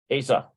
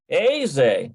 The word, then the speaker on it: איזה: No, that's not how you say it. I think it's Asa. There we go. איזה. Aze. איזה. Okay, so that's how you pronounce that. Aze. It's almost like, let's see, how about A-I-Z-E? A-Y. Aze.